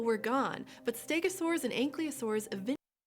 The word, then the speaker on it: Ankylosaurs: Ankylosaurs is how you pronounce it. Probably because, like, Ankleo, it's like, it implies that the L is before the Y, and it's not. The Y is before the L.